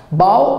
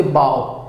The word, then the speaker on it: bough: Champa boughs, bough is the main branch of a tree, okay, mukhya shakha jo ta gote gachha ta kon di bough. The pronunciation is bough, bough.